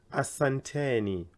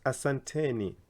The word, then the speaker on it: asanteni: you to many people who say it as asantani again the E here I've put it here so that it becomes asanteni all of you thank